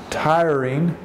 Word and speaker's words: tiring: was a tiring day tiring the eye is pronounced long tiring tiring tiring it